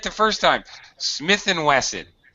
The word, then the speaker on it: Smith & Wesson: right the first time smith & wesson you would never say ampersand Smith Entwistle that's it so in English when you see this you say it's Smith & Wesson all right yeah that's